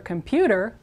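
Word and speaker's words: computadora: point out this is com o in Spanish is always o comput this syllable is like the English word though comput and then again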